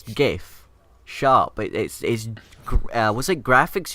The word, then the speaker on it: GIF: It's GIF. Shut up. Was it graphics user? No, what? Graphic graphic- interchanged format. format. Yeah, graphic interchange format, whatever. So it's a hard G. It's not GIF.